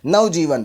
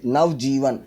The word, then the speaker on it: नवजीवन: नवजीवन मतलब दो शब्द अलग अलग हैं। नवजीवन, तो नव के बाद ए नहीं आएगा, नहीं तो नवाजीवन हो जाएगा ये।